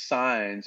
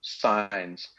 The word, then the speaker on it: Saenz: Adam and Eve but my last name is signs it's it's Spanish surname and it's spelled s's and sam a is an apple he is an elephant in is in Nancy and Z as in zebra signs and so if you